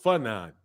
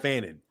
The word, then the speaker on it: Fanon: Fanon, not Fannin.